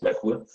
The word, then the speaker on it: Merkur: Now unfortunately, I don't have the original Merkur, or Merkur. Oh, it's correctly pronounced, Merkur.